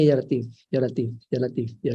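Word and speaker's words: لطيف: Dibacanya ya Latif, ya Latif, ya Latif, ya Latif.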